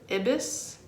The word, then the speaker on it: ibis: is the ibis bird ibis the eye it's spelled ibis and it's an egyptian